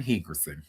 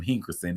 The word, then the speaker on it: Hickerson: breaks silence, bashes Brian Hickerson. Hickerson. Brian Hickerson. Let me make sure I say his name right cuz I keep calling him Hinkerson and there's no N in his name.